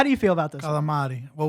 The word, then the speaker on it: calamari: Well, we make fun of people that's called galamad. They almost it's almost like pronounce it's the R like G. an L, right? A little Yeah. bit. They're Well, like well, they call calamari. it like in Sopranos would be galamad with Oh, it's GAL a G.